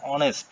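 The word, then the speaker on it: honest: যে শব্দের অনেস্ট শব্দটা অ এর মত উচ্চারণ হচ্ছে।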